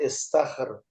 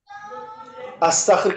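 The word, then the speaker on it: استخر: तो इस्तखर क्यों है जी ये? अस्तखर क्यों नहीं है? उस्तखर क्यों नहीं है? क्योंकि अलिफ के नीचे जेर लगा हुआ है, जेर इसलिए लग। ये इस्तखर है।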